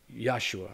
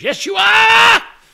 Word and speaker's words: Yeshua: same name y'all named yosua or it's they spell it Yeshua but they say yosua except for his mama when she goes Yeshua when she's calling him when